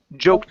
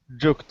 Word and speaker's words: joked: instead of joked okay this will be a t sound here okay joked about joked about joked about okay very nice